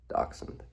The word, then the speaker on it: dachshund: Uh, but if we had to pick just one dog, oh, probably go with a dashund, dashund, dachshund, dachshund. Had to look up how to pronounce that.